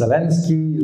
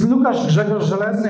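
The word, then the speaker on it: Łukasz Grzegorz Żelezny: I've been Lukasz Zelensky, Zeleny, Zelenish, and it's simple. It's Lukasz Grzegorz Zelezny, and this is how you pronounce this.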